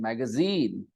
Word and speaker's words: magazine: sellotape magazine magazine magazine three vowel sounds three of the sounds and the stress is on the third magazine last syllable magazine and this goes